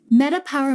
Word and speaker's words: MetaPWR: mean comprehensive or transcendent power spelled pwr can mean power as it's pronounced while also meaning personal Wellness realized metapower metabolic blend features proprietary